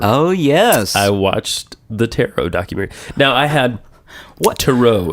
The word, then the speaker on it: tarot: uh a movie on Taro which I now know is one way of saying it uh I'm still going to say tarot yeah say terot yeah um I was